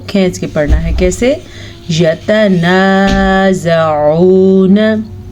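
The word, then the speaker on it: يتنازعون: یتنازعون، عین کو تلفظ کو اپنے مخرج سے نکالنا ہے، اس کو آپ نے یتنازعون نہیں پڑھنا۔ ابھی سے پریکٹس کریں۔ یتنازعون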